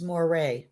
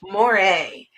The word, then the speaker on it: moire: of an inch thick penny says it's moire there we go thank you she spelled it like it needs to be pronounced thank you man or taffeta yes thank you kathy berg moray yes thank you i